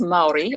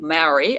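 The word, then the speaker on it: Māori: and actually kia ora, which is Maori, or Maori, as most people say it, which is from my homeland of New Zealand.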